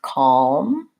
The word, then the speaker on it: calm: more about some other words that have the silent L so we had walk and talk often is between an a and another consonant so for example we had walk and talk we are in the same scenario we have calm and palms we have salmon and in that case